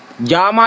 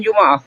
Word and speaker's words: Jama: Jama itu bukan Juma.